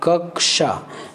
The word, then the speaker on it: कक्षा: अब इसका उच्चारण देखिए, ये ऐसा है, जैसे हम कक्षा, आपको याद होगा जब हम कक्षा की उच्चारण करते हैं कक्षा, जबकि हम लिखते ऐसे हैं कक्षा को, ऐसा। जैसे कख, 2 बार कक याद उच्चारण हो रहा है, कक्षा, कक्षा।